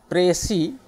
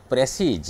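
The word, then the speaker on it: précis: उसमें पहला आता है जो वर्ड आप जानते हैं जिसका प्रोनाउंसिएशन है प्रेसी, लेकिन गलत से आप बोलते हैं प्रेसीज।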